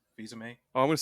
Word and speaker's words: Fils-Aimé: Fils-Aimé? Fils-Aimé.